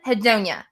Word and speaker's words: anhedonia: Anhedonia. That's how I say it. How do you The say best I've heard it pronounced is ANHEDONIA, and it?